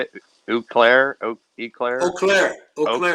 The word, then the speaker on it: Eau Claire: Eclair? Eau Claire, Eau Eau Claire. Claire. Yeah, somewhere around there. Yeah, that's French. As far as I know, the whole state pronounces it Eau Claire.